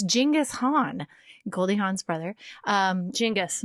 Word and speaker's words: Genghis Khan: back to genghis khan is the way it's pronounced not genghis khan like us texts inside genghis khan it's genghis han goldie han's brother um jingus jingus and he